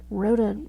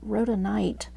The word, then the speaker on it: rhodonite: right um oh how do you say that Rhoda rhodonite okay I'm kind of mixing the two together